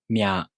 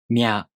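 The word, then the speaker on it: みゃ: These are pronounced with the M sound for mi plus a, u, o.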